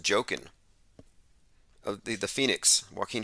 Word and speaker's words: Joaquin: tech tech inc says that joaquin is pronounced jokin of the the phoenix